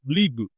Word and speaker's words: Lie: So it may spell lie but yeah you phonetically you say uh it's a lieu and there are many